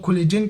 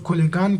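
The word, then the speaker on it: collagen: बाज़ लोग कोलेजन कहते हैं, बाज़ लोग कोलेगान कहते हैं, ठीक है। आप लोग किस तरह प्रोनाउंस करना चाहे आप लोगों का मर्जी, कोलेजन या कोलेगान।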